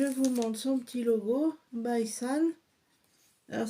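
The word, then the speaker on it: BySane: Alors, je vous montre son petit logo, Bison. Alors ça s'écrit by, B-Y, plus loin San, S-A-N-E. Voilà, vous trouverez sa boutique sur Facebook. D'ailleurs, c'est la boutique by San.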